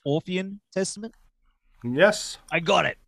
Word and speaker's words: Orphean: Of course, the new Evergrey album, A Heartless Portrait, the Orphean, is it pronounced Orphean Testament?